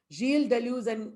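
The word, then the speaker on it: Gilles Deleuze: felix guattari remember guys not guiles it is pronounced real jill delusion felix gawathari and jiel de luz and felix guatra we talked about them uh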